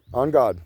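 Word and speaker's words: en garde: It's not on god it's on guard. On guard touche you know it's on guard. But the Brits say on God. On God. On God. Touche. On God. You know, Three Musketeers. On God. E N G- A R D E.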